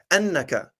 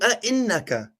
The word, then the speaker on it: أئنك: Okay, you said, let's see, you said قالوا أنك. It's قالوا أئنك.